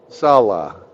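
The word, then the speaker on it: salo: they call it solo Salah no it's it's spelled s-a-l-o but they they call they say it Salah it's absolutely disgusting and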